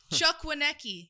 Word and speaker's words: Chukwuneke: I wrote your pronunciation, too. Doesn't say I'm laughing, but I got a little bit about that. Chuck Wanki.